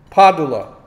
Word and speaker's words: Padula: Padula. That's how you say Vincent Padula. Padula. It's Italian. Nick G was asking. Padula. No, Padula. Padula. P-A. Like one a syllable. D-U-L-A.